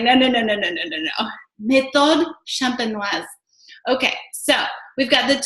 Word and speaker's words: méthode champenoise: call the traditional method, which is actually pronounced, hold on here for my French accent, méthode champenoise. Did you guys get that? Okay, so méthode champenoise.